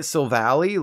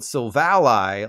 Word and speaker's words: Silvally: of the easiest names in Pokemon history to pronounce it's literally type null the evolution isn't I've have been calling it silvally like ain't no valley low enough but this man-made dardo is actually told silvalai like Ally we're learning so much today also